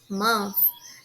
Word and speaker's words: month: de mês em inglês month tem esse som suave de F tem o th toda vez que uma palavra terminar em TH vai ter um som suave F então a gente pronuncia mon e uma outra observação muito importante é que a gente não fala mon não é um som é mais grave no ó é como se